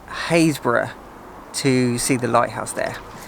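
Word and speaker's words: Happisburgh: It's spelt Happisburg, but trust me, it's not pronounced like that. Don't embarrass yourself and come here and say, can you tell me where Happisburg Lighthouse is? Because nobody will help you.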